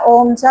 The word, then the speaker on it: ओम: त्याच्यावरती ते अवलंबून असतं ध्यानासाठी ओमचा उच्चारण करताना आपण अ हा मोठ्याने म्हणायचा असतो म्हणजे ओठांनी म्हणायचा असतो उ हा आपल्या टाळूने म्हणायचा असतो आणि म मात्र हा आपण आपल्या नाकातून म्हणायचा असतो कारण म म्हणत असताना आपला